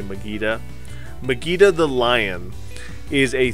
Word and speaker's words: Mageta: Now, I don't know if people pronounce it Mageta, like Vegeta in Dragon Ball Z, or if they pronounce it Mageta. I'm going to say Mageta.